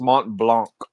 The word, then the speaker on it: Mont Blanc: I think it's I think it's pronounced Mont Blanc.